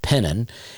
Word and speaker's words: Penton: That's Penton, pronounced Pennon.